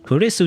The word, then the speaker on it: Kurisu: gate you know but now it's actually just chris kurisu just you know if you pronounce it in english um it's just chris you know it's literally chris some guy named chris literally foreign